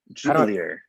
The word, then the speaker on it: Jubelirer: I love how you say my last name, Jubelirer. You're saying it right. You're saying it right, just with a lot of enthusiasm. A lot of jubilation.